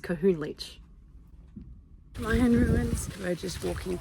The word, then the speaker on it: Kohunlich: We have arrived at the Connor le. Hi, future editing Kira here. It's pronounced kahoon leachch lion ruins.